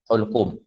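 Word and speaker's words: حلقوم: Cara baca dia bidhammil ha al-muhmalah, dengan dhammahkan hak tu, hulqum.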